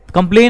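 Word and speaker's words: complain: Silent. कंप्लेन हम बोलते हैं.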